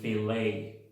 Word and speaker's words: filet: La 62, ET al final de las palabras, si vienen del francés, se pronuncian E nuevamente. Ballet o ballet y filet.